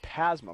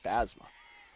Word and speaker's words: Pasma: Haley Pasma, my mistake. I said Phasma. Definitely not. That's pronounced.